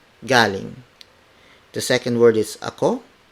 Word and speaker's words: ako: The second word is ako, spelled as A-K-O. It means I. Ako, ako, ako. Sa is spelled as S-A.